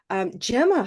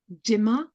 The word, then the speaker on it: Gemma: In terms of the vowel, I sometimes get Jimma or Jim. That's probably the most common mispronunciation of the vowel. But normally I hear it's the consonant actually that gets mispronounced. I get a lot of Gemma, especially from German speakers. I get a lot of Gemma rather than Gemma.